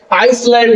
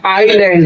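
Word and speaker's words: island: Type है, आइलैंड, द्वीप, आइलैंड का मतलब से आइसलैंड ना पढ़िएगा, आइलैंड है ये, इसका शुद्ध प्रोनाउंसिएशन आइलैंड है, तो आइलैंड द्वीप।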